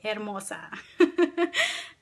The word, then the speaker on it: Hermosa: So let me pronounce it properly, Hermosa.